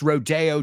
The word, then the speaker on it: Rodeo Drive: say at his second Rodeo careful laaya in Beverly Hills Rodeo it's Rodeo Drive but you want to go to the rodeo very same word different pronunciation so what did the